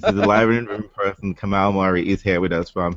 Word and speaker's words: Kamau Murray: That's correct, Kamau Murray.